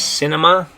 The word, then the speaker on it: cine: Okay, and the way you're going to say that, though, is still kind of similar to the word cinema. In Spanish, you're going to say cine. Okay, so in English, it's cinema.